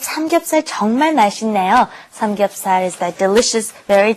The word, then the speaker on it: 맛있네요: When that 있다 comes up against an N, a nian, then you have to pronounce it as another N. 맛있네요. So let's practice this pronunciation. You should pronounce it 맛있네요. 맛있네요.